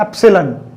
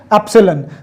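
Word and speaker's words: ε: कईयों को ये इंग्लिश अल्फाबेट E लग रहा होगा, बट इट is from Greek language. ठीक है, और इसकी प्रोनाउंसिएशन क्या है, जैसे इसकी प्रोनाउंसिएशन क्या है A, इसकी प्रोनाउंसिएशन क्या है B, तो इसकी प्रोनाउंसिएशन क्या है, एप्सिलॉन. क्या बोलते हैं इसको, एप्सिलॉन.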